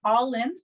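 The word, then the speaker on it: álainn: with all in yarns it is pronounced all in like you're all into yarn um all in as an irish word it means beautiful so all of my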